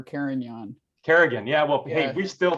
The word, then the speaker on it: Carignan: My favorite though is Kerrigan for Carignan.